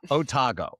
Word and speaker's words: Otago: But, I came across this other thing called Otago and the spelling of it is how you pronounce it in American.